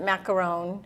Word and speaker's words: macaron: difference between a French macaroon and a regular macaroon? Is there a difference? There is definitely a difference. The French pronounce it macaron, but most of us still say macaroon over here.